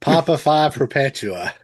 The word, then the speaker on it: Papa Perpetua: Sammy Hagar, Living Colors, Vernon Reed, uh Ghost Papa V Pepula. Is that how you say it? It's Papa Perpetua.